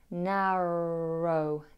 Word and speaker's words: narrow: When saying the word narrow, avoid tapping the R sound. Float the tongue in the middle of the mouth to create this steady sound. Narrow, narrow, narrow-minded, rather than narrow, narrow, narrow. We don't want that.